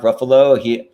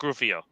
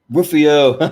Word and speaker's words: Ruffalo: Although that is not, yeah, this is Mark Ruffalo. Yeah. Yeah. Huh? And I love that I pronounced his last name incorrectly, horribly. Rufio.